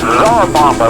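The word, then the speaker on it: Tsar Bomba: yucca now, yucca, and it's czar bomba, like the czar.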